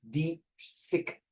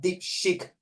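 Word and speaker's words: DeepSeek: unclean you're English teacher can you pronounce po deep sick not deep shake and it's from China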